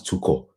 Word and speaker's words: Tuchel: You said Tuchel. It's Thomas Tuchel. That's German pronunciation now, not spiritual.